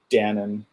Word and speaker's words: Dannon: Hey, I've got my Dannon, rhymes with Gannon.